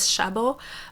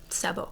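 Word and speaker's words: Szabó: door by Magda Sabo my instinct is to pronounce it as shabo but that's how it would be pronounced in Polish and I think in Hungarian it's supposed to be Sabo so this is a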